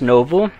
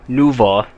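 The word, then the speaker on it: Nouveau: than when I used Novo, or Nuvo, as I should probably pronounce it.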